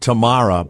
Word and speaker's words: Tamara: woman named T her her name is spelled Tamara but she calls it Tamar so no one that's